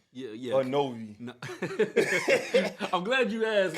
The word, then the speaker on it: Knovie: In other words, with my name, the K is pronounced, so K-N, and then V as in Victor.